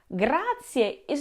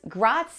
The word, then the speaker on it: grazie: Italian it has to be pronounced for example gra is not pronounced grai or grai which means fat in Italian and